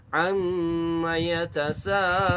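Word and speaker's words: عم يتساءلون: Yang penting jangan lupa nah, itu digunakan mim bertasydid ya. Tapi maknya tidak panjang. Jadi hanya cukup amma yatasaalun. Nah, amma yatasaalun. Ya, mimnya tasydid. Kadang nggak ada alifnya itu, dia baca kadang suka panjangin. Ada yang kasus seperti itu juga. Amma yatasaalun, itu salah. Jadi kalau kita bicara huruf mim, perhatikan ya.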